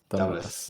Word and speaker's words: Damles: How would you like that Dam to pronounce? Damles. That's good. Damles.